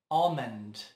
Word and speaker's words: almond: Talvez por isso se pronuncie errado, mas na verdade é almond.